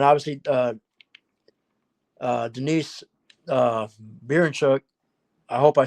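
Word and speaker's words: Berinchyk: I think and then obviously uh uh Denise uh Bernchuk I hope I said it right if I how do you how do you say his name? I'm so sorry. I'm terrible with names. Baron Chick.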